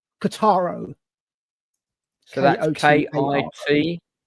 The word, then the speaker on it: Kotaro: It's a little anime series that I found on Netflix, and it's called Kotaro Lives Alone.